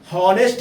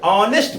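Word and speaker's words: honest: तो सीधी सी बात, यहां पर जो पहला एच यानी हॉनेस्ट, यानी यहां पर अगर देखा जाए तो साइलेंट निकल रहा है एच हिंदी शब्द में, हिंदी उच्चारण में। समझ रहे हैं आप? बिल्कुल समझ में आ रहा होगा। हॉनेस्ट नहीं, ऑनेस्ट पढ़ा जाएगा।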